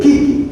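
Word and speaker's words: 危機: En el Japón, cuando dicen crisis, se escribe con 2 kanji o ideogramas y se lee kiki.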